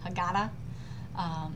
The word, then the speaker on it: Haggadah: whole life growing up, my pronunciation was Ashkenazic with the syllable right in the middle, Haggadah.